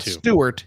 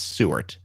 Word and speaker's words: Seward: It's not Stewart. It's Seward. One T, but it's not where you think.